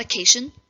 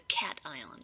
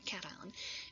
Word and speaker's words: cation: name for that of course and it's not acacian i know you want to pronounce it that way but it's actually called a cation cation and the non-metal becomes more negative and we